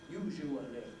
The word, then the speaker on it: usually: ways of saying it but i'm afraid that this daniel jones dictionary latest edition seems to invite you to go on saying as they did in daniel jones's own day uh actually generally obviously usually now usually it's not a usual pronunciation today it's too slow there are too many syllables in it i hope you um